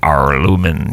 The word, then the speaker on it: Aurlumyn: We're not going to be able to pronounce this. It's AURLUMYN. Arlumin.